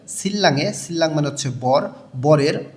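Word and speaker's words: 신랑: থেকে সিল্লাং এর বরের এখানে নিউনের পরে রিউল আছে দুইটাই লইয় লাল উচ্চারণ হবে সিল্লাং সিল্লাং মানে হচ্ছে বর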